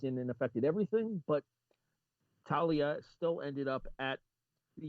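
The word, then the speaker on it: Taulia: to talia talia talia you pronounce the g there's no g it's t-a-u-l-i-a i thought there was a g in there there's nothing it's an o-g i'm telling you it's like talia or or talia or something like that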